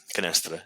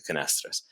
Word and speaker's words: Canastra: So, do you pronounce it in the U.S.? Did you pronounce it the Portuguese way, or was it Canastra? Canastra. Canastra. I have a Boston accent sometimes it comes out, but Canastra would be how it's pronounced.